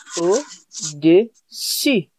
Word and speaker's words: au-dessus: Really be careful with the pronunciation. So for below, it is au-dessous. You get it? Au-dessous. Yes. Très bien. And for above, it is au-dessus. It sounds pretty similar. Yes, it sounds a bit similar.